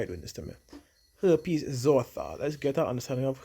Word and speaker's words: herpes zoster: Herpes zoster. Let's get our understanding of herpes zoster. That's how it's pronounced.